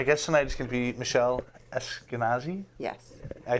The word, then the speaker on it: Michelle Esquenazi: but anyway my guest tonight is can be Michele Eskenazi yes I said it right who is the